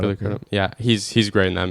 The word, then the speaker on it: Crudup: And Billy Crudup, that's how you say his name, right? Crudup, Billy Crudup.